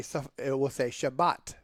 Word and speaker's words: Shabbat: So, for instance, the Ashkenazi will tell you that it is Shabbos with an S on the end. The Sephardics will say Shabbat with a T on the end.